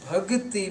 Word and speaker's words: bhakti: If we miss its I sound at the end, as is generally going on in the congregants, this is embarrassing. So by leaving this I sound at the end, what we do, we change the grammatical form of this word.